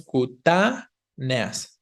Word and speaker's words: cutáneas: Y luego el inciso C dice cutáneas. Si lleva tilde, porque hay hiato entre la E y la A, pero la vocal tónica no es la E, es la primera A, ¿no? Diríamos cutáneas.